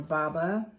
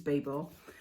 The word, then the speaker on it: Babel: lot of them so I got Babel or Baba I don't know how you pronounce it for me it's baba but I think it's Babel I got this from